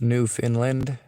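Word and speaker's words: Newfoundland: just for the record it's pronounced New Finland New Finland all right well I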